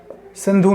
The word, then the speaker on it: सिंधु: मतलब इंस देखिए सिंध सिंधु नदी सिंध बोला जाता है उच्चारण में उ की मात्रा को साइलेंट कर देते हैं तो सिंधु नदी